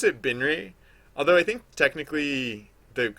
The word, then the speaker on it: Binre: I pronounce it Binri, although I think technically the a more correct pronunciation might be Biner. Um, I pronounce it Binri though. I wasn't like it was